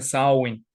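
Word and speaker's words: Samhain: aparecen los muertos Entonces se escribe samhein pero se pronuncia sawyn porque el Irlandés de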